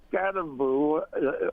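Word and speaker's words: Skattebo: The second one is is uh I was very impressed with uh Scataboo or however you pronounce.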